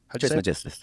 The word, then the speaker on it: Trismegistus: Trismegistus.